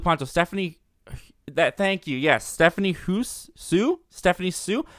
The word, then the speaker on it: Hsu: I had the HSU in my head, and I couldn't remember what her first name was, and I didn't really remember how to pronounce it, so I think it's Stephanie Sue.